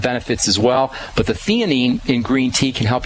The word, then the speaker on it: theanine: Another relaxing supplement is something called theanine. And that's spelled T-H-E-N-I-N-E.